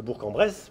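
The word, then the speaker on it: Bourg-en-Bresse: demain les commerçants de bourc de bourc en Bresse puisquil faut le prononcer correctement bien organiseent une flash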